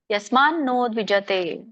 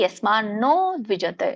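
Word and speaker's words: ಯಸ್ಮಾನ್ನೋದ್ವಿಜತೇ: ಹರ್ಷಮರ್ಷಭಯೋದ್ವೇಗೈಹಿ ಮುಕ್ತೋಯಸಚಮೇ ಪ್ರಿಯಹರೇ ಕೃಷ್ಣ ಇದರ ಒಂದು ಉಚ್ಚಾರಣೆ ಯಸ್ಮಾನೋದ್ವಿಜತೆ ಬಿಡಿಸಿದಾಗ ಎರಡು ಪದಗಳಾಗುತ್ತೆ ಯಸ್ಮನ ಉದ್ವಿಜತೆ ಅಂತ ಹೇಳ್ತಾರೆ ಕೂಡಿ ಯಸ್ಮಾನೋ ದ್ವಿಜತೆ ನಕ್ಕೆನ ಒತ್ತಿದೆ ಒತ್ತಬೇಕು ಯಸ್ಮಾನೋ ದ್ವಿಜತೆ ದೀರ್ಘ ಇದೆ ಲೋಕೋ ಲೋಕಾನ್ನೋ ದ್ವಿಜತೆ ಇಲ್ಲಿನು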